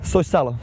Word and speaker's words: Soisalo: Soisalo. You said it right.